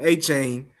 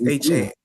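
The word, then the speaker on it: Devon Achane: Devon Achan is, if we said his name wrong forever and a day, we've been calling him Achan forever and a day, and his name is Achan.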